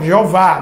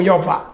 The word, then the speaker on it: Jeová: Só que mesmo assim, e aí a pronúncia pode ser Javé ou Jeová, né? Yahé ou Yová, tá certo?